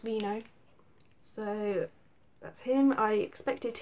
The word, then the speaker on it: Reno: I was about to call him Reno, but it's actually apparently pronounced Reno.